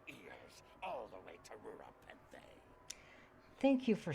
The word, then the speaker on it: Rura Penthe: It's like, it's Rura Penthe, not Ura Penthe.